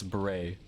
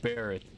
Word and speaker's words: beret: it's it's b-e-r-r-e-t yeah that's it's bray oh it's it's it's yeah one r mary's right if you if you pronounce it barrett cat if you pronounce